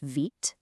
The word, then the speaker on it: Vite: Tools like Vite, which by the way is pronounced Vite, do all the heavy lifting and complicated setup stuff for you.